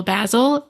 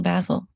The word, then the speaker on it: Basil: lurana illuminary said basil as in Razzle Dazzle basle and now we all have to say that till the end of time yeah razzle dazzle basle because it looks like